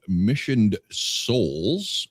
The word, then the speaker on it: Missioned Souls: Missioned Souls. You actually said it right. Yeah, well, nobody says missioned in my life. You hear mission, like I eat mission chips.